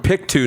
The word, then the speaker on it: Pictou: Yeah, you're from Pictou, Nova Scotia, right?